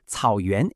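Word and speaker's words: 草原: The first word is cǎoyuán. Cǎoyuán is pronounced cǎoyuán and means grassland.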